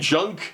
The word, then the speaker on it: Junque: Incidentally, they own and run Vintage Games Junk, and Junk is spelled Junque.